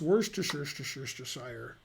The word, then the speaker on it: Worcestershire: How do you pronounce Worcestershire? It's like the way you pronounce Leicestershire.